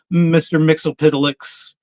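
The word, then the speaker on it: Mxyzptlk: Lois Lane gets him to break it down phonetically, and In the comic, It's Mix Yez Piddleick is how you say it.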